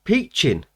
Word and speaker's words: Piccin: that's come into the game now this is peaching apparently that's how you pronounce it that's not how i would pronounced